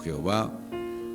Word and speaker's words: Jehová: Su pronunciación original no es tan cierta o es insegura o incierta, por lo que a menudo siempre se va a vocalizar como Yahvé o Jehová o se usa en el